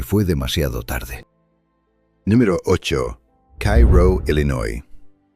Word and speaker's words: Cairo: Número ocho, Cairro, Illinois. Cairo se pronuncia quero, no como la capital egipcia.